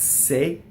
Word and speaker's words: se: have is SE, and that's se, right? So E in Italian is a non-phonetic vowel, so it can be pronounced two different ways. And in this case, it happens to be A, like hey is for horses, or I say, right?